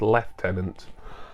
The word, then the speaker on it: Lieutenant: swim by Bad Lieutenant or me being British so I really pronounce that as bad left tenant I'll say Bad Lieutenant because that's what the